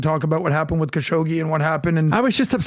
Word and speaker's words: Khashoggi: Khashoggi.